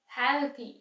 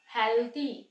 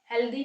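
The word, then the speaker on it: healthy: हैं टी T think हेल्थी थन thank you तो यहां पे हेल्थी हेल्दी नहीं होता हेल्थी next sound is द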